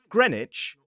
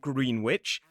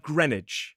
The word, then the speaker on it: Greenwich: So, they'll say Norwich and Greenwich. Now, you'll notice in the three examples I've given so far, while there is a W in the words in the place names, the W is silent.